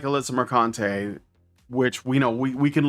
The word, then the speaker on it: Mercante: This is just another step on the, you know, like on the descending stairwell into nothingness that is, you know, Alyssa Mercante's pronounced Mercante.